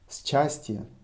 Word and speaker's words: счастье: Счастье. Actually, счастье pronounced счастье. So I'm pronouncing it for you счастье because it's written this way.